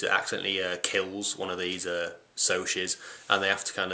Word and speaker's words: Socs: type of people called Socs. I called them socks before for some reason, where it's spelled S-O-C-S.